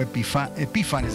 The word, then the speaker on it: Epífanes: así rapidito pero antíoco epifanes o epífanes lleva el acento en la i creo epifanes el acento está en la i Okay Ah este antíoco